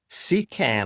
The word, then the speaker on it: CKAN: We're talking to Steven D Costa, who is the executive director of Link Digital and the co-start of the SECAN, I hope I've said that correctly, project CN project.